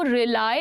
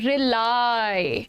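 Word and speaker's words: rely: इस तरह से हम बोलते हैं भरोसा करने की अंग्रेजी रिली नहीं है ये, दिस इज नॉट रिली। क्या प्रोनाउंसिएशन है? रिलाई, रिलाई बोलते इसको, ठीक है।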